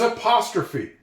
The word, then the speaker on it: apostrophe: I've been teaching you on this channel that e at the end of a word is always silent if there are other vowels in that word. But there's exceptions to it. There's exceptions to this rule. One word, I don't know if you've noticed this that I've been teaching you is apostrophe.